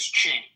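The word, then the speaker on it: Qing: Quing. Hello, Quing. If I'm pronouncing that right. Quing. Quing. Q. Q I N G. Q I N G once. Q I There it goes. It's pronounced as Ching.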